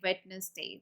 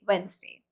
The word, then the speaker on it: Wednesday: And then comes Wednesday, which is mostly pronounced it like Wednesday. That's purely wrong. You should say Wednesday.